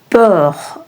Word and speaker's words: peur: peu peur Peu is a closed EU sound, which means a little. Peur means a little. And peur is a open EU sound, which means fear.